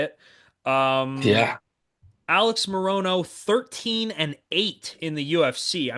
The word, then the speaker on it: Morono: Morono, the Great White, against Carlos Leal. I believe that's how you say it. Yeah. Alex Morono, 13-8 in the UFC.